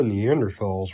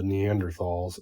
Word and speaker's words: Neanderthal: be pronounced Neanderthal but if you want people to pronounce it that way don't put an H in it I'm going to say